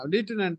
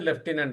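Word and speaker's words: Lieutenant: Sir American Canadian அது நீங்க spelling மாறும்போது தான். ஆமா லீட்டனன்ட் தான். ஸ்பெல்லிங் மாறும்போது அது ஆட்டோமேட்டிக்கா அந்த அந்த ப்ரொனன்சியேஷன் மாத்திடும். பிரிட்டிஷ் அண்ட் இந்தியன் வந்து லெப்டினன்ட் தான் போட்டிருக்காங்க.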